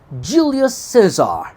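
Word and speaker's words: Julius Caesar: Bu arada Jül Sezar'ın İngilizce okunuşu Juli Cezar.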